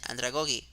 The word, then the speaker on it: andragogy: the adult learning theory, andragogy. Or as the professor pronounced it, andragogy.